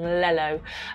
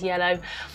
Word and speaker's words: yellow: A really common one is children mispronouncing the word yellow and saying lello, and then when I've tackled this with parents and said, are you correcting them, are you telling them that the word is yellow, and they're actually confirming